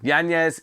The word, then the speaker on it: Yanez: Yanez, he wants to be called now. Yanez, I believe he Americanized the pronunciation previously. Has decided he doesn't want to do that anymore. That's fine. Yanez, it is.